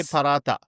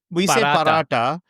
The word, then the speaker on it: paratha: We say paratha. We say paratha, but Australians would say paratha. Let's see if I can do it. Let me do yeah, paratha.